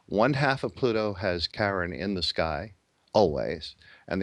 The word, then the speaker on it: Charon: moon actually Pluto is karen is half the size of Pluto and even though it's spelt CH AR 0 n still it should be pronounced Karen these are all creatures